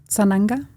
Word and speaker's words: Sananga: Sananga?